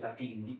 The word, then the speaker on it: Pepin: And then looking for these Frenchmen, commanded by a man named Michel Papin La Force. Lafayette helped me with that pronunciation. Those days, it was Michel Pepin did La Force, is what I understand.